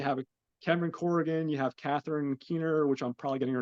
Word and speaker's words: Catherine Keener: You have Cameron Corrigan, you have Catherine Keener, which I'm probably getting her name wrong.